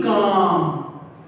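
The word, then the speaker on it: calm: बी काम। इसमें L silent है, सी ए एल है, बी काम।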